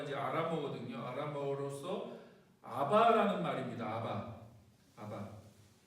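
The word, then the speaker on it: אבא: 아바. 네. 근데 굉장히 비슷하죠. 아빠, 아바. 굉장히 발음이 비슷합니다. 정확하게 발음하면 아바가 되는데, 우리나라 아빠하고도 굉장히 비슷하죠.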